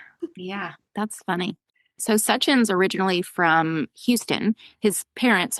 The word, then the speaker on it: Sachin: Sachin's name is spelled s a c h i n and people always mispronounce it and his cheesy line is, "My name is Sachin because I'm such an awesome guy."